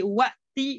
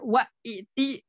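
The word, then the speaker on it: وأت: Namun hamzah kedua itu biasanya disatukan dengan hamzah pertama dalam pengucapan ketika setelah huruf wawu dan fa menjadi wa'ti dan fa'ti. Bukan wa'iti dan bukan fa'iti, tapi langsung disatukan wa'ti, fa'ti.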